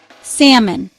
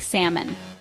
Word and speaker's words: salmon: Salmon. A type of pink fish often eaten grilled or smoked. People pronounce the L like salmon. Salmon. The L is silent.